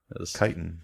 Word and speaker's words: chitin: Chitin is pronounced chitin.